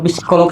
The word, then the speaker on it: psikolog: Kalau psikolog sama psikiater sama nggak? Oke, sebelum masuk ngomong psikolog, kalau ngomong psikolog gak usah nyebut P-nya. Psikolog. Karena emang psikolog langsung. Tapi emang tulisannya P. Psikolog.